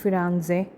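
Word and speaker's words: Firenze: সো আমরা বলি ফ্লোরেন্স ইংলিশে, বাট ওরা বলে ফিরানজে। সো আমরা বলি ভেনিস, ওরা বলে ভেনেজিয়া ইটালিয়ান ভাষায়।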